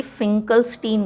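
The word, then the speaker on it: Finkelstein: तो इस रिएक्शन का नाम है एक्चुअली फिकलस्टीन रिएक्शन।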